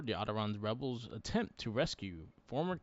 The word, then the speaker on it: Onderon: as they carry out a The series of Orderons. strikes in the capital. Orderons. Onderons. Onderons, yeah. I Onderons. see the pronunciation on here. It says Onderons, yeah.